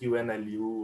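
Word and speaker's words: Ünlü: Unlu, or is it UNLU? Or? Yeah. It's pronounced as Unlu. Unlu is a Turkish word, which means be famous.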